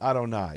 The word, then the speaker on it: Adonai: read Yud-Heh-Vav-Heh in their Hebrew text, but they pronounced it Adonai.